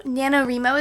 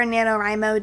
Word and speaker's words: NaNoWriMo: Also, NaNoWriMo is coming up, or NaNoWriMo, depending on how you want to pronounce it, which stands for National Novel Writing Month.